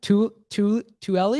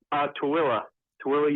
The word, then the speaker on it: Tooele: Is it Tuelle? Oh, you're good. Tooele, Utah. Oh, okay. Yeah, I was way off.